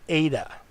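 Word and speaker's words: ἦτα: not this is an ADA ADA and it looks like an end but the front toe goes below the line and it has an a sound as in next letter is theta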